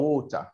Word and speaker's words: water: عايز تقولها بالتي هتبقى ووتر بس مش هتنطق الار بقى.